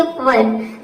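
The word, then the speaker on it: verb: कि यहां पे देखिए वर्ब यहां पे ई के बाद क्या क्या आया है आर आया है तो वी का हो जाएगा व ई का हो जाएगा अ आर का हो जाएगा आधा र और बी का हो जाएगा प यहां पे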